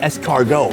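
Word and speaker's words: escargot: In France, they're called es cargo. It means snail. I thought it meant something potentially more fancy, but no, it's three syllables to say snail.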